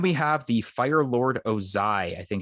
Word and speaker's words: Ozai: america soda then we have the fire lord ozai i think it's pronounced from avatar the last airbender and i